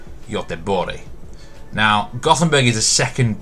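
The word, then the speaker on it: Göteborg: city of gothenburg or other swedish to pronounce it bori now gothenburg is the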